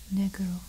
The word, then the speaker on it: negro: So you say black in English, but if you say it in Spanish, you say negro, negro, and that is spelled N-E-G-R-O, negro.